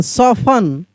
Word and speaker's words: soften: SOFTEN, सॉफन, सॉफन, सॉफ्टन नहीं, सॉफन।